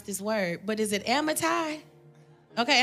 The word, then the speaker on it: Amittai: It says, now the word of Jehovah came unto Jonah, the son of, I don't know how to pronounce this word, but is it Amittai? Okay, Amittai, thank you.